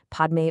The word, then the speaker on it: Padme: In the original Sanskrit, the word Padme has a P and an M sound right next to each other. To adapt this to the local phonetic constraints of the time, that single syllable had to be split into 2 distinct sounds, Ba and Mi.